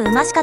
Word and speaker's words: 馬鹿: もご安心くださいバカではなくウマシカと読むんです節の仲間です